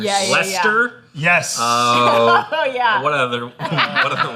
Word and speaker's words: Leicester: I feel like there's a lot of English cities and towns where they kind of skip over half the letters. Leicester?